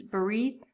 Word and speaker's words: berit: The Hebrew word for covenant is berit. Often it is pronounced as brit or just brit. Here's a word made of two Hebrew words that you are most likely familiar with.